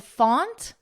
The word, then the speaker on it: font: And font, and front, and word, and sword. With font and front, notice the vowel. We have an aw, aunt. Here we have a, unt. Font, front.